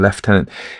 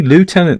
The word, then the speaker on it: lieutenant: was saying is when I used to use a British pronunciation left tenant actually lieutenant is correct isn't um if from